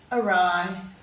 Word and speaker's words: awry: day 2 page, and all these words have a silent W with them, and we usually see a silent W before an R, as you'll see in all these words.